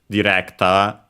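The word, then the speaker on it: ディレクター: but yeah, of course in Japanese in this case we have the D, the original D, directa. Of course, notice again the sound at the end doesn't exist in Japanese, so it becomes the closest one, a, with the longer vowel.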